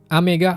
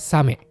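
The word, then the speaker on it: 小雨: Contohnya amega furuk turun hujan. Oame hujan besar dan kosame hujan kecil. Hati-hati dengan yang warna pink ya. Dia bacanya bukan ame tapi same.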